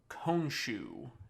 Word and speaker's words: Khonshu: And a spirit appeared in front of him, and that spirit was Khonshu, is I believe the correct pronunciation.